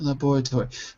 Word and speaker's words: laboratory: There's the American version where the first syllable stress.